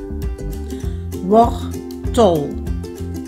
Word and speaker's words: wortel: Và chữ này nó nhấn ở âm tiết thứ nhất, cho nên chữ e trong âm tiết thứ hai nó được xem là stomme e và nó được phát âm như là chữ ơ.